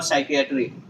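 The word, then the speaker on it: psychiatry: अब देखो सोरियासिस हो, अच्छा है, ये लास्ट के तीनों वर्ड देखो, साइकोलॉजी, सोरियासिस और साइकियाट्री, इनमें से क्या है? ये पी, हर जगह पी क्या है? साइलेंट है भाई, पी साइलेंट है।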